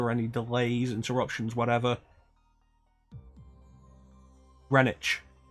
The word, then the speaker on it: Greenwich: any delays interruptions whatever Greenwich Greenwich there's a Greenwich in New York radish village I think it's pronounced the same way which is funny because it's a specifically English word that's spelled differently from how it's pronounced like several ingre English